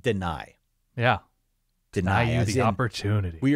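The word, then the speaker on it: Dani: name well that'll happen it is not Danny Dennis is spelled D N I he says it deny yeah Den the opportunity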